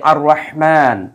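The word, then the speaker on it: الرحمن: আলামীনকে বুঝানো হচ্ছে অর্থাৎ আর রহমানু এই জায়গায় আমরা যেহেতু ওয়াকফ করি সেজন্য আমরা পড়ি কি আর রহমান অর্থাৎ এই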